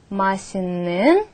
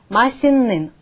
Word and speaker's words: 맛있는: Масинен ую ее. То есть основа глагола масит. Прибавляем нын, поскольку это исключение. Получаем масинен вкусное.